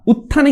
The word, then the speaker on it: উত্থান: উপপ্রলিখিত কেমন পরেরটা দেখো উত্থান উত্থানে দেখো উচ্চারণটা কি করে হচ্ছে দেখো ত আসছে থ থ আছে কিন্তু উচ্চারণে দেখো কি আসছে ত আসছে তাহলে ত টা আমাদেরকে লিখতে হবে দেখো উত্থান উত উত্থান